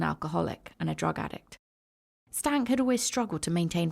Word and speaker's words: Steinke: year old Jeremy and I promise you this is how his surname is pronounced even though it is not written like this his name is Jeremy stank and he was one